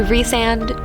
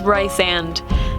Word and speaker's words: Rysand: tattoo that Rysand has, and I will not say Rysand, no, so don't come at me in the comments, it's Rysand. You can fight me on this. I don't care if there's an actual pronunciation guide in the back of the book, it's Rysand, period.